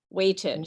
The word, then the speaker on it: weighted: a tiff sound so we fully pronounce the two syllables weighted weighted so walked is one